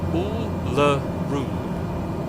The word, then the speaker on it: Uluru: that has a, so it's weak emphasis, no emphasis, strong emphasis. So the middle U is, usually written up with the pronunciation guide of a schwa, so it's just a sound. So Uluru, and yes, most of the emphasis on the third syllable, which is the exact